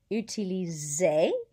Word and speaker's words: utiliser: Utiliser. Vision. Organiser. And again, notice I didn't pronounce that R, even though it's part of careful, because that's an infinitive. Same thing with utiliser.